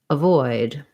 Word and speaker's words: avoid: syllable is important so in avoid a good strategy for saying these words and to correct that error is to just leave the letter a off at first and say void avoid or forward afford same thing